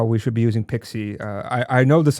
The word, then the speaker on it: PKCE: Uh you should be using P uh Pixie. Uh Pixie, it's pronounced P, it's written PKCE if I remember correctly, not PXIE like maybe some of the people may be thinking.